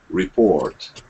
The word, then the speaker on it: report: So you want to make it so that it's report, but basically quicker R sounds. Report. Try that. Yeah, good. Report. You don't want your R's to become the biggest part of the word. Report. Right? You want it to be a quicker R.